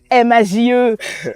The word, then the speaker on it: M4JE: M-A-J-E, M4J, on sait même pas. Mais en vrai, première question, comment on prononce déjà ton nom d'artiste? On dit Maj.